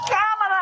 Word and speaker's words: Kamala: several years now you should know how to pronounce her name so listen very carefully hey Cleveland it's camela I just came to say thank you hey